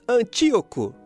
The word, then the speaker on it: Antíoco: É assim mesmo que pronuncia, né, Jesus? Antíoco.